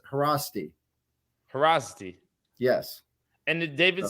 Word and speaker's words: Haraszti: z together is uh pronounced like just an S so instead of Faraz D it's harassi porosity yes and did